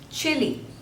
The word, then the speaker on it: Chile: Next is Chile, Chile. So there are two syllables and stress is on the first one, Chile, Chile, Chile, Chile.